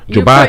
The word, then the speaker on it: Jobate: Still in the studio, Jabate. Is that correct? I'm Jobate. Jobate. You were pronouncing very correct.